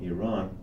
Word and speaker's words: Iran: Iran is the Tell me about correct it. way to pronounce it.